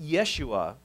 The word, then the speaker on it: Yeshua: the old testament but hebrew doesn't have a j sound so there's no joshua or jesus so the name would be pronounced yeshua and yeshua means the